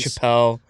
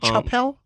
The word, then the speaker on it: Chappelle: Dave Chapelle. Did you say Chapelle? Dave Chapelle. Chapelle. You love Dave Chapelle, and you've been saying his name wrong this whole time.